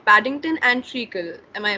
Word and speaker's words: Treacle: So Yes, they're two fluffy and cute Pomeranians called Paddington and Treacle. Am I pronouncing yes, that right?